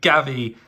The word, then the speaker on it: Gavi: But Gavi, sounds like Javi, rhymes with Javi, definitely one for the future.